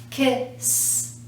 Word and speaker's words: kissed: goes with this is that's the spelling but that's the sound kissed kissed and again we're not adding a syllable kiss kissed one last word that